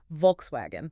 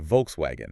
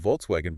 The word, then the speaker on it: Volkswagen: Volkswagen. Oh, the perfect example. Americans usually say Volkswagen, right? With that hard English V.